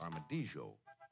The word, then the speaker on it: armadillo: this happens to be the Dasypodidae, or armadillo, sometimes pronounced armadijo, but affectionately nicknamed tattoo.